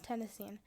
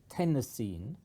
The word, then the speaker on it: tennessine: of element 117 I would pronounce it tenine like iodine and chlorine but some people in America say chlorine and iodine but my feeling is that everybody will say tennessine because it sounds just like the state of Tennessee whereas tenine doesn't the reason why it